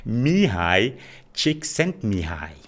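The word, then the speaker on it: Mihaly Csikszentmihalyi: It's Mihai Csikszentmihalyi. All right, so is it A, B, C, or the person with an unpronounceable name?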